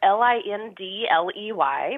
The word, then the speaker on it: Lindley: It's spelled L-I-N-D-L-E-Y, but because I'm Southern, I don't pronounce the D, so it's just Lindley.